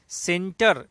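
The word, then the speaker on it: Tsentr: अगला, बहुराष्ट्रीय सैन्य अभ्यास सेंटर 2019 कहाँ संपन्न हुआ है? देखिए, सेंटर का स्पेलिंग एस से है, जबकि सी से होना चाहिए था, टी इसमें साइलेंट हो गया है, लेकिन इसका नाम है सेंटर।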